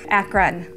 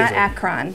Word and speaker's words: Akron: up in Akron right now yours you're not pronouncing it correctly Akron also the access on the end yes okay Akron okay you're gonna get it right now so